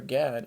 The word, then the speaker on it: Gad: As for Gad, or God as it is pronounced, a troop will overcome him, but he will overcome at last.